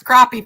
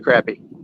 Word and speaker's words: crappie: said OMG that takes crappie fish into a whole new level yeah he's wanting to pronounce it crappy yeah I know we fish for Crappie not crappy we don't like the crappy crappie 154.